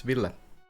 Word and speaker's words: Ville: Sure, it's Ville. Ville is the Finnish pronunciation. But if you say Vil or whatever, that's fine by me.